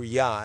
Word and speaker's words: Jah: jah or the Hebrew yah. If you pronounce it like the German Jews do, you will the J will be a Y sound.